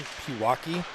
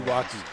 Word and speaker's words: Pewaukee: Pewaukee? Like Milwaukee?